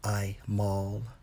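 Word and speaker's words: עָמָל: In the Hebrew, Strong's H 5999, pronounced as I maul, toil, trouble, labor, trouble, mischief.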